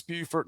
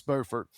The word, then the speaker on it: Beaufort: I had to be careful because in North Carolina there's a Beaufort and they're spelled the same as that way. So South Carolina it's Beaufort, North Carolina it's Beaufort. And one of my areas